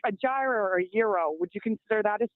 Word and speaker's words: gyro: Well, just like a gyro or a euro. Would you consider that a sandwich? Wait, you just call it a gyro? Euro.